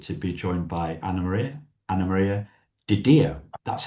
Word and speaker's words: Anna Maria DiDio: Anamaria Diao. That's how I pronounce it, right?